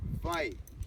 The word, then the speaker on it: wai: The first word I share is the word vai. W-A-I, pronounced like a V.